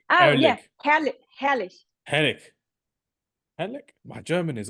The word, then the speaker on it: herrlich: Did I pronounce it right? Erlich? Magnificent? What do you mean? I tried to say Erlich. Yeah, herrlich.